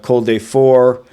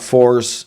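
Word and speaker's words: Col des Fours: Cold day four. Uh it's not fours, it's cold day four, no s.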